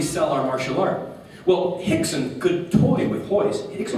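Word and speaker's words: Rickson: was so stupid in in Portuguese you don't pronounce the r it's an H right so his name is Hixon but I was so stupid I'm like rickon and Gracie Gracie oh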